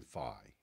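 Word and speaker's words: Fey: My name's actually pronounced Fay, which no one knows except people I went to high school with.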